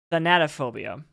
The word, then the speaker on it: thanatophobia: but I had to look up how to pronounce it it's thanatophobia which is the fear of death that's fair